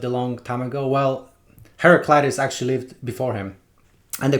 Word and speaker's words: Heraclitus: is this guy talking about but it's actually Heraclitus who is a philosopher who lived 2,500 years